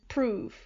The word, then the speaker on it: prove: Like, I read one, I think it was Shakespeare, love and prove. Right. So for us, that doesn't rhyme even a little bit. But it said that prove would have been pronounced more like love.